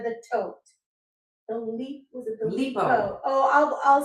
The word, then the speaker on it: Lipault: Was it the Lipo? Oh, I'll spell it for you. This is Lipo, which is, it's a French line. It's Lipault, Lipo.